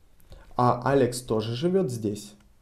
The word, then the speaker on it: здесь: Алекс тоже живет здесь. Здесь. Written здесь, pronounced здесь. Instead of the, we are pronouncing it с.